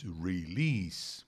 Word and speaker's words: release: antagonize mais uma vez release mais um s Entre vogais que tem o som de s mesmo não é som